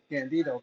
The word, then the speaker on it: Gandido: you pronounce it correctly? So I won't make that mistake. It's Gandido, but we go way too, Gandido.